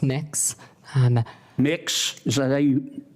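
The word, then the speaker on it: Mx: what you're you're proposing it's pronounce mix um mix is that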